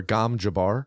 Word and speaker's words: Gom Jabbar: Gom, Gom, space Jabbar, Jabbar. Okay. Phonetically, it sounds very similar to ganja bar. It's similar. Gom Jabbar.